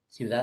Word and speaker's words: ciudad: Por ejemplo, la palabra ciudad es una palabra aguda, porque su última sílaba se pronuncia como fuerza, pero no se tilda, pues, ¿no?